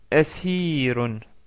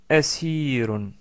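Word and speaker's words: أسير: Le mot asirun, asirun. Vous entendez au début asir.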